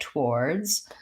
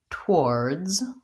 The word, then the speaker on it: towards: Ward's two words but we don't actually say towards like two syllables we we pretty much run that together and this GU sound is almost not even there it sounds more like towards towards and in addition the